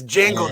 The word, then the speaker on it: Django: It's Django. The D is silent, damn it.